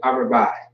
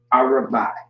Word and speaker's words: Arabai: I guess you could say that the A is silent in a way, so Arabai. All right? Yeah, Arabai. Arabai is how you pronounce that.